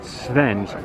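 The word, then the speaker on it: sfenj: is svens that's right svenge almost like olaf's friend sven but with a jeff at the end so that's svenge so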